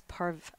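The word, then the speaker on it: pareve: It's parve, right? Parv, Yeah, or parv. People say parv. We say parv. There's 2 spellings, I believe. It's also spelled Yeah, some do parve, some do. I do parv personally. I pronounce it based on how it's spelled, but I'm also not.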